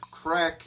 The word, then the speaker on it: craic: d h e well in this case crack is spelled C are a I see and there's a big